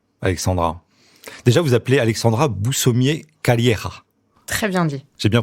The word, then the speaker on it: Boussommier-Calleja: Déjà, vous appelez Alexandra Boussomier-Calleira. Très bien dit. J'ai bien prononcé ? Oui. Calleira, parce qu'il y a des origines espagnoles.